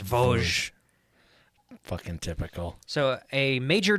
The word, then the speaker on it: Vosges: It's pronounced Vosges.